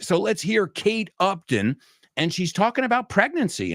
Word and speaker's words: Upton: And number 3, Kate Upton. Kate, not Uptown. Uptown is, as of once you get up past Central Park, that's Uptown. But this is Upton.